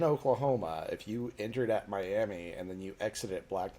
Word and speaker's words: Miami: sorry I called it Miami let me let me get Oklahoma with it miam even though it's spelled exactly like Miami yeah know Jesus yeah